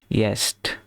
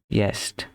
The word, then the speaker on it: jetzt: এখানে একটা জিনিস, এই যে jetzt, এটা যে উচ্চারণটা হইল, যে এর উচ্চারণ সবসময় কি হবে, রসের মতো হবে, সেজন্য ইয়েস্ট, ঠিক আছে, ইয়েস্ট।